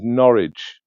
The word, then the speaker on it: Norwich: It's it's most shall be said uh pronounced as Norwich in the UK.